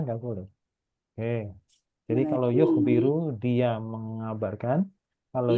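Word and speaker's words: يُخْبِرُ: Jadi kalau yukhbiru dia mengabarkan. Kalau yukhbaru dia dikabarkan. Oh, yukhbaru. Maknanya jauh kan? Iya. Dia mengabarkan atau dia yang dikabarkan. Iya. Hanya gara-gara spell itu mbaknya kasrah sama fathah.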